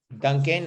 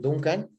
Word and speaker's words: Duncan: is just my name duncan or duncan in spanish i pronounce my name duncan which is my name